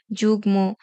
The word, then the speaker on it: যুগ্ম: উচ্চারণ অবিকৃত থাকবে তার মানে ম এর মতই উচ্চারণ হবে যেমন বাগমি যুগ্ম বাঙময় কুটমল জন্ম সম্মান ব ফলা উচ্চারণের শেষ